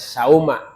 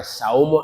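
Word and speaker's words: صَوْمَ: pelaksana puasa menjadi Maul wajib dibaca sauma tidak boleh saumu atau Saumi Godin Saumi mudof Godin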